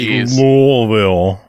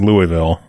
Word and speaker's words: Louisville: it, and then I'll tell you how we pronounce it. Let me guess. You say Louisville. Mm-hmm. How do you say it? Every other person in the world says Louisville.